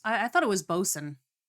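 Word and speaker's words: boatswain: I I thought it was Bosen. I thought it was Bosen, not Boat Swain. It's spelled Boat Swain, but I don't Or is that like a British thing?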